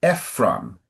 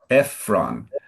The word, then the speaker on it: Ephron: So Abraham and then the name of the Hittite is Ephron. Ephron and just for you to know in English the emphasis is all is often sooner in the word.